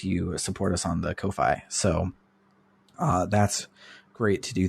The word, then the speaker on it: Ko-fi: our Ko-fi, as I've learned, is how it's pronounced, and I don't like it. Apparently. It's Ko-fi.